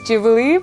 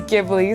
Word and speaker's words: Ghibli: I don't know if it's Jibli. I'm pretty sure that the way you're meant to say it is Jibli, but I've always thought it as Giblly.